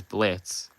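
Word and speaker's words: Blitzø: You could just say Blitz O, and you read it as Blitz.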